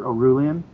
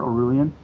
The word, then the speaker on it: Orullian: Um I'm on Twitter just is my name again, Peter Oulan. Peter Orulan.